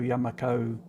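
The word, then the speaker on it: Yumako: They weren't pronouncing the yum part. It was Yamako, as in tomato, Yamako. You see what I mean? So maybe that's how it is meant to be pronounced.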